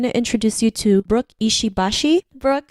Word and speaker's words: Ishibashi: So you said it like pretty much perfectly, because it's supposed to be monosyllabic, no stress on the syllables.